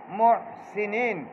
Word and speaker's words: المحسنين: মুহসিনিন, সিনের জেরটাকে খালেজ ভাবে আদায় করতে হবে, রস্যিকারের উচ্চারণ করতে হবে। মুহসিনিন, যদি জেরে গিয়া একারের উচ্চারণ করা হয় তাহলে গলত হয়ে যায়, মাঝুল হয়ে যায়, এটা নিষেধ আছে।